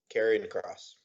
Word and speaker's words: Karrion Kross: Karrion Kross.